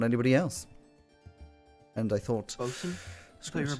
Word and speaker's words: bosun: And I thought, Bosun? I thought you were a boatswain. bosun. Hmm. It's pronounced bosun. Are you an idiot?